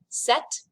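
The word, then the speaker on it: sept: you do with that set the p is kind of silent set reit this has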